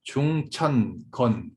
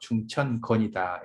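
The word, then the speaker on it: 重天乾: 자, 중천건, 하늘이 두 개 있다는 거죠. 중천건이다 해서 발음을 건이라고 읽습니다.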